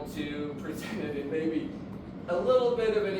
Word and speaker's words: me: Oh, so in the Latin, well, they do have the word ego, which is I, and the word me is, they say may, but it's also me.